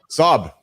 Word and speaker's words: Saab: Saab. Yeah. So, that's how my name is pronounced. S. Like mom. The way you pronounce mom the right way.